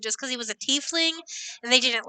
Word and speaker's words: tiefling: Not pronounced Teflon, dear. It is called tiefling.